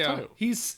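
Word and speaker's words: Taiyo: Yeah, that's Tayo. His name is Tayo. It's son. I don't fucking remember how to spell it.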